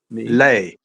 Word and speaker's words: Millet: So it's me Me. lay. Millet. Lay. Lay. Yeah, me Lay. lay as in light.